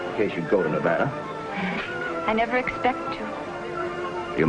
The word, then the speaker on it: Nevada: nevada by the way that's pronounced nevada i notice you give it the broad ah i prefer it to a dreadful flat only the dreadful flat air is correct among the natives perhaps i just thought